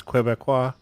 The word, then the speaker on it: Québécois: Are you surprised that I know how to pronounce Québécois?